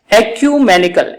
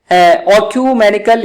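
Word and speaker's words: ecumenical: एक्यूमेनिकल, एक्यूमेनिकल इसका pronunciation है। General, ऑक्यूमेनिकल ये इसका प्रोनाउंसिएशन है।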